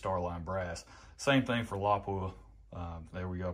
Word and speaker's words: Lapua: Same thing for Lapua. There we go, pronounced it correctly that time.